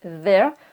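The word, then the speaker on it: their: Ensuite, on a T-H-E-I-R, c'est pareil, hein, ça se prononce there, sauf que là, ça veut dire leur en anglais.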